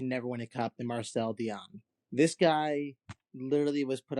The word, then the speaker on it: Marcel Dionne: I think it's pronounced Marcel Dionne.